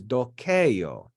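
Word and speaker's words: doceo: The first person singular is dokeio, and the accent is on that e because it's long.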